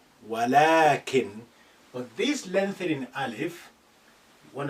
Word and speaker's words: ولكن: You say ولكن, but you don't write it like that.